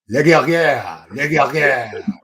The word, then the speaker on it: Le Guerrier: I was trying too hard to pronounce the R's. I think that was my Let it roll. Just let it roll. You know, like churro in Spanish. Leguerrier. Leguerrier. It's in the back of the throat.